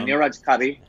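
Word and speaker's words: Neeraj Kabi: And starring Niraj Kabai. Is that how Kabi, you say it? Yes. Yeah, Niraj Kabi.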